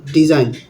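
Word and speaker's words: design: এখানে জিটা সাইলেন্ট হয়ে গেছে। পরে আছে এটা কি? ডিজাইন ডিজাইনের এখানে জিএন একসঙ্গে আছে এখানে জিটা সাইলেন্ট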